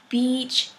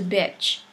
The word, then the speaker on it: beach: swimming and enjoy coconut, if you mispronounce E into I, then you'll turn beach into bitch, a very bad word talking about women.